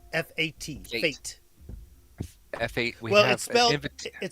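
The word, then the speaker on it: fête: Fate. FAT. Fate. F8. We have It's spelled Fe T E, but it's pronounced F long a T. Fate.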